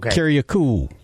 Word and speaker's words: Kiriakou: It's John Kiryaku.